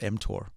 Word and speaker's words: mTOR: Yeah, you're pronouncing it correctly. It's called mTOR.